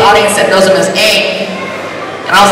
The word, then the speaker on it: Aang: Which I read an article saying, you know, it's more properly pronounced as Ong. But it's like there's a big audience that knows him as Aang.